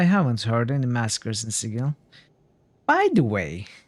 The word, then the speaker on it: Sigil: Even though the word is clearly Sigil, or the most general usage is Sigil of the pronunciation, but in this game it's pronounced Sigil apparently.